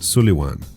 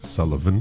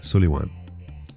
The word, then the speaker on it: Sullivan: Which, by the way, the proper pronunciation of that name is Sullivan, not Sullivan. Sullivan is the anglicized version. So, there you have it, Sullivan.